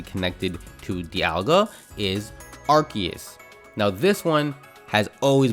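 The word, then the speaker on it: Arceus: is the arguments for archus as the proper pronunciation is simply the fact that every official piece of English media pronounces the name as archus by archus archus archus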